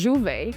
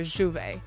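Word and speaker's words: Jouvay: So it's Juvet. Pretend like you're saying duvet. Drop the D and put a J. So Juvet. Juvet.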